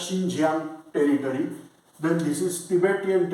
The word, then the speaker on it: Xinjiang: called xinjiang territory actually they are writing about spelling with x so we can read it at zinjian but they pronounce as xinjiang territory then this is